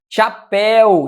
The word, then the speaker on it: chapéu: Chapéu. Chapéu é oxítona também, sílaba tônica é a última. Cuidado, certo? Chapéu não é uma paroxítona. Chapéu é uma oxítona terminada em ditongo aberto, exatamente.